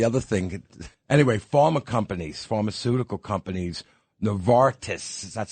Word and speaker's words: Novartis: Anyway, pharmaceutical companies, Novartis, that's how you say it, Dick?